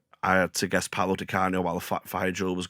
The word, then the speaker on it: Di Canio: And I had to guess Paolo Di Canio while the fire drill was going off. And because he was filling it, I went, Paolo Di Ciano. And it's still to this day, I pronounce Di Ciano as Di Canio.